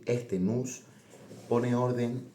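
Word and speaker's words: nous: fuerza motriz que es nose escrito pronunciado nus porque viene de un ditongo heredado del griego, el ditongo omicron y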